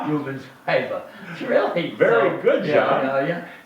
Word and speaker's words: Rubens Paiva: Rubens Paiva.